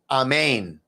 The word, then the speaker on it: amen: and so it is amen actually it would be a main it rhymes with chow mein that's how the Aramaic would pronounce it amen amen amen um